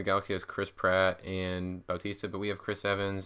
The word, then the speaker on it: Bautista: It's Bautista.